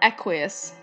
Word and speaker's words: Equius: like non-pronounceable and then oh his name is pronounceable his name is called aqueous how was i ever going to get that uh so the very first time i thought everybody said aqueous i was thinking of